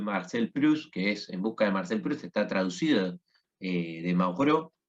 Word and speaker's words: Maurois: Proust, está traducido de Mauro, ¿sí? Maurois se escribe, Mauro, y que en busca